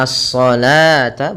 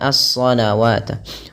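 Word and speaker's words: الصلاة: Jadi, cara membacanya adalah as-salata, bukan as-salawata. Wau di sini berwarna abu-abu, yang berarti dianggap tidak bersuara; Yang penting adalah alif kecil di atas wau, yang menunjukkan pemanjangan untuk lam.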